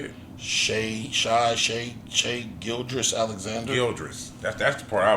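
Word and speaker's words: Shai Gilgeous-Alexander: Shea Gildress Alexander.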